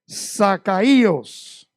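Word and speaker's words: Ζακχαῖος: Saqueo viene de una palabra griega que se expresa, se habla de la siguiente manera. Zacaíos, Z-A-K-H-A-I con acento O-S. Zacaíos, del griego Zacaíos.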